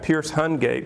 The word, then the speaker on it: Pearce Hungate: Today we've got Pearce Hungate with us. Did I pronounce that right, Pearce?